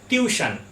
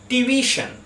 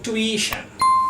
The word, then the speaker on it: tuition: প্রথম কথা, আমরা ছোটবেলা থেকে বলে আসছি যে টিউশন, কিন্তু তার স্পেলিংটাও আমরা রং লিখি। ঠিক স্পেলিং হলো কি TUITION, আর এর উচ্চারণ হলো, ঠিক উচ্চারণ হলো টিভিশন। টিভিশন, এবং আমেরিকান ইংলিশে এর উচ্চারণটা করা হয় টুইশন।